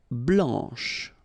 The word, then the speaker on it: blanche: Remember when you combine this CH, you get the sound sh, blanche, okay?